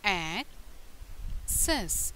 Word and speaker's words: access: How do you say access? Access. The stress on the first syllable.